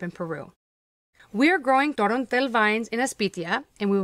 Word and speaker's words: Torontel: That's pronounced Torontel, also known as Torrontes.